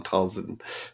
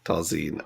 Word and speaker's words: Talzin: All I just I just specifically remember in the final one of the guys kept called Talline kept calling Talzin Talline.